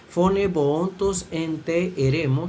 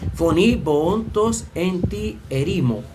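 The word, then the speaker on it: φωνὴ βοῶντος ἐν τῇ ἐρήμῳ: el texto griego dice fone boontos ente eremo según la pronunciación erasmiana y según la pronunciación recliniana foní foní boontos en ti erimo, literalmente voz del que anuncia o proclama en en el desierto.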